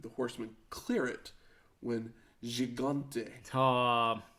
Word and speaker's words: Gigante: And then all 6 men climb into the ring, but the Horsemen clear it when Gigante Going hard G.